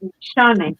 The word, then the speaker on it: Nishane: Because they don't pronounce S and H as sure.